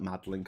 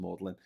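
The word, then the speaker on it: Magdalen: Yeah, he went to Mlin College, which looks like Madlin College, but it's pronounced Mlin. We're complaining about Hungarian pronunciations. Mlin College in Oxford.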